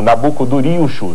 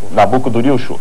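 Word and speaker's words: Nabû-kudurri-uṣur: Em acádio você pronunciaria algo como Nabucodurilxur. Nabucodurilxur.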